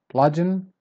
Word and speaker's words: bludgeon: Next word is bludgeon. Bludgeon. So you start strong and then you go down like this. So you start strong and then you go down. Bludgeon.